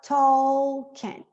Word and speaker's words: talking: Essa pronúncia aqui é uma pronúncia interessante porque a gente tem que lembrar que esse L não é pronunciado. A gente não fala talking, é talking.